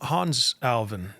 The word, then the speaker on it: Hannes Alfvén: Um Hannes Alfvén, that's how you pronounce his name.